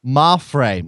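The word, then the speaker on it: Mapfre: Mafre.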